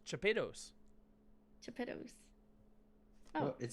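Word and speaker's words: Chapados: in spanish sevilla but i never used that pronunciation so yeah you know my last name is uh c-h-a-p-a-d-o-s it's chopitos to pittus oh it says we're live look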